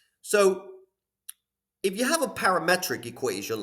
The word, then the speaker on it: parametric: I used to, for some reason, when I was in high school, I used to pronounce it as parametric. I just thought it sounded better, but of course it's not parametric, it's parametric.